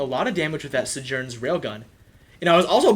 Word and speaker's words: Sojourn: stream initially started, that it's pronounced Sojourn. How were you pronouncing it earlier? Sojourn? Oh my goodness. That's how it's pronounced.